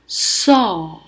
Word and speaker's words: saw: 보았다 할 때는 철자도 SAW로 변하고 발음이 saw. 오도 아니고 어도 아니고 그 중간 발음으로 saw.